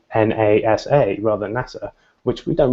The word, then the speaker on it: NASA: an impact on how screen readers for example pronounce things so words like NASA if you make it capitalized then it may say na sa rather NASA which we don't really further refer